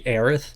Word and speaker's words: Aerith: about Eris look I know it should be Aerith and will we air it in the remake